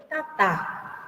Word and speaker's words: tatá: Se escribe tapé, camino, tatá, fuego, ¿sí? Y se lee tapé, tatá. Entonces se carga la voz y no se acentúa.